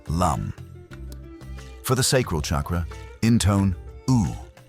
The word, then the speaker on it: Lam: The Sanskrit seed mantra here is Lam, pronounced Lum.